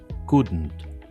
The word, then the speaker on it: couldn't: Sería couldent. Couldn't. Sí, no es couldn't. Algunas personas podría ser que lo digan couldn't o couldn't, pero no hay ninguna e para que suene e.